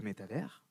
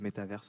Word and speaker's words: métavers: Donc, pour répondre à ta question, on dit le métavers, on ne prononce pas le S, ou alors on dit le métaverse en anglais, et c'est en réalité, à l'instant où je vous parle, plutôt les métavers.